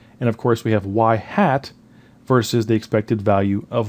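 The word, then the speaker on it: ŷ: looks like this now the Y with the little thing on top is pronounced y hat and it is the point estimator of the expected value of y so y hat is the mean value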